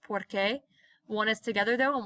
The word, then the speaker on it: porque: I have a test notice both of these are pronounced porque want us together though